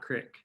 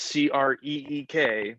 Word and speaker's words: creek: from a local brewery you think it's creek and not crick just just to clarify yes it's c-r-e-e-k pronounced creek well i'm